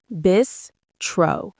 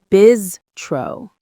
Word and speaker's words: bistro: Bistro. Two syllables. Stress on the first. The S sound is like a Z sound. Bizro.